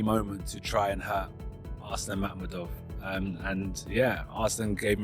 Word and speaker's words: Arslan Makhmudov: So for so for Arslan Makhmudov, that's the right way to pronounce it, right?